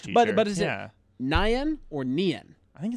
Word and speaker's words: Nien: Nien. Nien. It's so not 9. Yen. Yeah, it's Nien. If it were 9, the I would be after the E, like how you spell that.